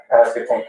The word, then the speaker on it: Pasquotank: Pasquotank County.